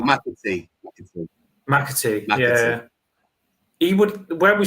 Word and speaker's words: McAtee: I'd love that is it McTay from Man City? How'd you say his name? The one that we used linked to. I don't think we'll get him. McTay or something. Oh, McAtee.